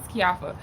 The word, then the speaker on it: Keioffa: you know corrected her my name is kiafa and so she kept saying it wrong so i was like my name is kyopa and then she had